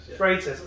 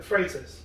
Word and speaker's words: Freitas: Freitas. So I should have asked you how to pronounce it before we started. It's Portuguese. Everyone struggles with it. I can't really write. Freitas.